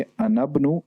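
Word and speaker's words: أنا ابن: अगर इससे पहले कोई लफ्ज हो तो हम कहेंगे अनबनु, अनबनु, अलिफ को बीच में से साइलेंट कर देंगे।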